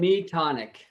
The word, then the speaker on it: Metonic: Metonic. Metonic. Yeah, some say Metonic, but Meton, I guess, was the pronunciation for this Greek astronomer.